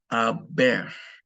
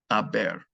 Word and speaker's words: haber: There will be an H in all the conjugations, but of course the H is silent in Spanish. So please learn how to conjugate the verb haber, okay, in the present tense.